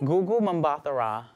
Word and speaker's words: Gugu Mbatha-Raw: How do you pronounce her name? Gugu Mbatha-Raw.